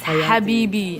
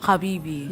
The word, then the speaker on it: Habibi: It's Habibi, not Habibi. What do you Habibi. say? He can't pronounce ha.